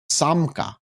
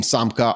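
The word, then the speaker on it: Samca: Samka. I'm pretty sure that's how you say it. It's pretty much spelled how it's said.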